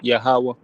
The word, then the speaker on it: Yahweh: I personally reference as the Tetragrammaton will be pronounced or enunciated Yahweh.